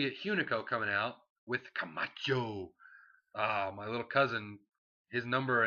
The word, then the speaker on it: Camacho: You gotta say it like you can't say Camacho, it's Camacho.